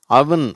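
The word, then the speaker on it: oven: இதை தப்பாக ஓவன்றாங்க, இந்த அடுப்பை ஓவன்றாங்க, அது அவன் அப்படின்னு சொல்லணும். Rush, some, chuck, Tusk, கவர், டசன், floor.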